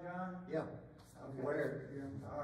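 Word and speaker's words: Wiard: Then the Weard 6-pounder, is that pronunciation right, John? Yeah. Okay. Weird.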